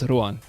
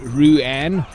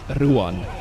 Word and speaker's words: Ruan: That's by the way, that's how you say it in South Africa. I know I typically coach people to say it Ruan, because English people have a hard time sometimes. But it's Ruan.